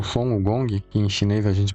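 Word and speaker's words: 孙悟空: O Son Wukong, que em chinês a gente pronuncia como Son Wukong, é um dos personagens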